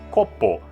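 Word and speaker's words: コップ: isso nada copo bom a palavra copo japonês é cocô é quase igual só não tem acentuação capa a palavra capa em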